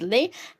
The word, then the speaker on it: les: will be using Le okay l s will pronounce it as Le and we are going to see some examples